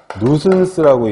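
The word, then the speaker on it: nuisance: 세 번째가 뭐냐면, 이게 재밌는 게 뭐냐면 뭐 S자인데 S자를 왜 이렇게 썼어요? 누슨스라고 읽는데 이거는 귀찮다거나 성가신 내용으로 번역을 할 수가 있어요.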